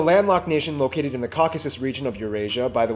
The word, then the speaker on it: Caucasus: Armenia is a landlocked Nation located in the Caucasus region of Eurasia by the way it's pronounced Caucasus okay caucuses when a ton of politicians make